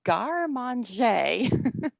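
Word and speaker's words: garde manger: art of and um i'm told this is pronounced and garman jay and i can i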